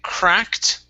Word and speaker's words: cracked: All right, our next word is, okay, cracked. Instead of cracked, okay, the ED is a T sound.